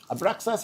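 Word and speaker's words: Abraxas: Abraas is spelled A B R A X A S.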